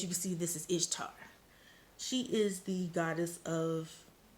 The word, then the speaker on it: Ishtar: Now, Ishtar is also associated with Easter, which makes sense because that's the time of creation and growth. So she embodies that energy. Some people even pronounce her name Easter, but that's neither here nor there.